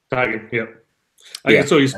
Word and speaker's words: Tiegen: That's the way it's pronounced, Tiegen. Tiegen, yep.